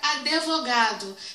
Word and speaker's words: advogado: vamos lá por exemplo eu tenho aqui a palavra advogado tem pessoas que pronuncia essa palavra advogado tá que é uma pronúncia incorreta da palavra a gramática as regras gramaticais tá de acordo com um estudo da ortoépia vir que a pronúncia é advogado e aqui ele é mudo advogado tá mexendo pessoas